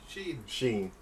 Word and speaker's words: Sheen: Sheen. As in Charlie.